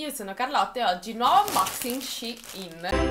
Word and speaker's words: Shein: Innanzitutto, questa volta l'ho chiamato Shein e non "Shane" perché una ragazza è stata un po' scortese e mi ha fatto notare che, visto che collaboro con l'azienda, dovrei almeno pronunciarlo correttamente.